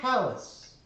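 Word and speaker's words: Kalas: My name is Callus. It's a horrible What? name for a cat. Callus. Like when your skin gets too hard after it gets poked a lot?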